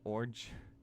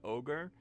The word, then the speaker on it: ogre: The Orge. Yesterday I said Orge instead of Ogre, and I was serious, but because I mispronounce things on purpose all the time, it was pretty smooth.